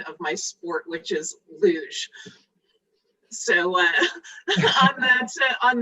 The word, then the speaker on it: luge: have to uh just correct you on the pronunciation of my sport which is luge so uh on that on that note um